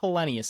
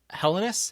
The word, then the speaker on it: Helenius: I'm trying to remember he he pronounced how he wanted it's not Helenius anymore it's Helenus Helenus there we go I got to it